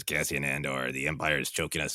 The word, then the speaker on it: Andor: he's casting ender like we're already not pronouncing the names correctly like he's going to be it's andor um loved everything about